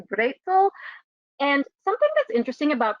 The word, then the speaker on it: Brezel: One is, as we Americans pronounce, pretzel, or maybe in German closer to Brezel.